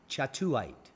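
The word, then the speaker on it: Kyawthuite: it's from Myanmar and if you try to pronounce that you'd probably say wheat but it is in fact pronounced chatulate Stone was found in a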